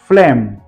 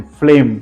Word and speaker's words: phlegm: Then फ्लेम, फ्लेम, FPHLEGM, फ्लेम, यहाँ पर भी हमने जी को साइलेंट रखना है।